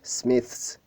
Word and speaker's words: Smiths: Smiths, Smiths. Alors, le TH se prononce avec la langue entre les dents.